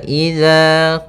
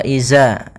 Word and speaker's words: إذا: Pada bacaan wa idza qila lahum, hati-hati dalam pelafalan huruf dzal, jangan sampai ini merubah menjadi huruf zai. Yang mana di sini harusnya adalah dzal, bukan huruf zai. Jangan diganti dengan wa iza, tapi dia huruf dzal.